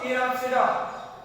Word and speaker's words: Pteropsida: Pteropsida. P is silent word.